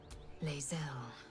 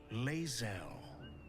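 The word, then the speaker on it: Lae'zel: could talk for herself laelle laelle proud Regal even you will call me there now you've heard her name pronounced correctly talk onor lasal Knight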